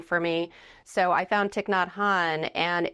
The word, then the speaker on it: Thich Nhat Hanh: Thich Nhat Hanh is how you pronounce it.